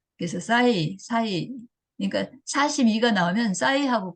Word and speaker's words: 싸이: 싸이. 싸이. 이제 발음을 좀 세게 했죠. 싸이. 그랬는데, 그냥 사이 하면은 이렇게 되는데, 워낙에 유명한 인물이잖아요.